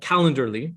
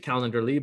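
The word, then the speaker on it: Calendly: is a tool called calendar lee i pronounce it calendarly but it doesn't have the r in there but you'll find it and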